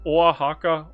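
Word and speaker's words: Oaxaca: So, Wajaka Wahaka.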